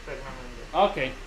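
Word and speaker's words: Praggnanandhaa: My name is Pragnananda.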